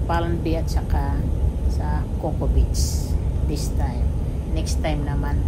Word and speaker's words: Cocoa Beach: So how is it Coco Beach when it's spelled C-O-C-O-A? That's the spelling of Cocoa.